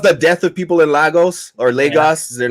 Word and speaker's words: Lagos: I feel like she caused the death of people in Lagos or Lagos. They're not pronouncing that correctly, by the way.